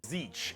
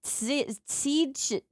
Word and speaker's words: Tzeentch: Tzeentch, and Tzeentch is the god of change. I would not have guessed that is how you pronounce that name. I would have been like, Tzeentch.